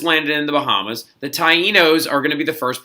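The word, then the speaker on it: Taíno: so since Columbus landed in the Bahamas the Tainos are gonna be the first purple that he first purple the first people that he reacts in interacts with okay so this right here is pronounced Taino not T no not I know but Taino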